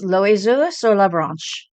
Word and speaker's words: l'oiseau sur la branche: So I'm gonna see if I never took French, so I'm gonna see if I can pronounce it right. It's l'oiseau sur la branche, and this is by.